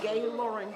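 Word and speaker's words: Gae Lauren: Can you say your name and spell it? My name is Gay Lauren, G-A-E-L-A-U-R-E-N.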